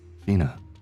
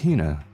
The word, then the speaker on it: Hina: This young lady is my traveling companion, the esteemed archaeologist, Fina. Keep saying it wrong. It's Hina. Hina.